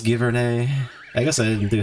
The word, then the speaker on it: Giverny: You know, I would try to say it properly, but I'm all congested at the moment, so I'm just gonna say Giverny. I know it's Giverny.